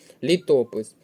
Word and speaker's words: літопис: другий склад не підходить літопис тут треба запам'ятати наголос на другий склад літопис русло наголос на